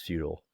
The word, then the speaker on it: futile: was an american and they said it right the american way like resistance is futile but anyway drawback of that though it sounds like feudal in an american accent so like peasants didn't